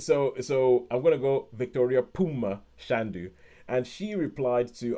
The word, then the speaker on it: Phume: and H beside it, but in South Africa those are pronounced with a P sound, like Poom.